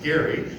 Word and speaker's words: Gerry: So Eldridge Gerry, you might have heard of gerrymandering, it's actually appropriately pronounced Gary, the same guy, he's at the convention.